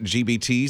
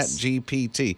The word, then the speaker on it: GPT: you know those uh chat gbts that can did I say it right yeah GPT yeah I gotta say that slower so I don't say it wrong but they can do